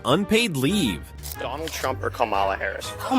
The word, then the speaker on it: Kamala: Well, it's it's like the Kamala rhetoric. Her name is Kamala, actually.